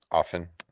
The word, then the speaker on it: often: and that's incorrect really the t is silent yes often often enough